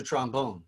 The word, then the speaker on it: trombone: That is that in New Orleans, you don't play the trombone or the clarinet. You play the trombone and the clarinet. There's a first syllable emphasis on these.